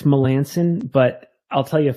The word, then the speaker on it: Melanson: I butchering it no well it's it's it's Melanson but I'll tell you a funny story so